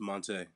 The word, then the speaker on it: Montee: to pronounce your name Monty Monty How does it go I'm never sure yeah yeah it's uh pronounced Monte Monte yes it is yep I've been I've